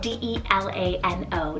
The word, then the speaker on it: Delano: Next up on the boy side, we have the name Delano, spelled D-E-L-A-N-O, Delano.